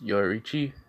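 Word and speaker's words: Yoruichi: let me find her name okay i'm gonna pronounce this name ron it's yo richie y o r u i c h i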